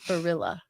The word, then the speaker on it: Barilla: You're saying Belli, but it's Borilla. It's like gorilla.